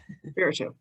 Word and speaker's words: Espiritu: Espiritu.